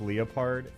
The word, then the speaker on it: leopard: He pronounces it like it's Lea. He has an E sound and then a schwa. It's leopard.